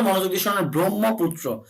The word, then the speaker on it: ব্রহ্মপুত্র: ব্রহ্মপুত্র অর্থাৎ হ ম দুটিকে কিন্তু আমি কানেক্ট করে বলছি।